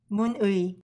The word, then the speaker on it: 문의: First letter is 문, second letter is 의. Together, it is pronounced 문의.